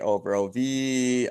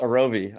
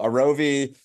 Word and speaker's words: Arovy: And so for those that don't know um Arovi Orovi, Aravi, it's actually pronounced Arovi. Um but people seem to struggle with the name. So Arovi, pronounce how it's spelled.